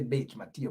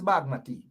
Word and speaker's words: Bagmati: Or some may say Bachmati, but it's Bagmati. Bagmati. So it's not pronounced Bajmati or Bajmati. It's Bag. The J is silent.